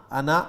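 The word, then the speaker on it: أنا: تو انا کا تلفظ میں نے کر ہی دیا جی, الف نہیں پڑھا جائے گا, انا ہی پڑھیں گے اس کو.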